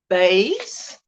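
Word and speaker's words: Baes: And it's called that Denim Shawl by Annelies, B-A-E-S, Bays. I think that's how you say it, Annelies Bays.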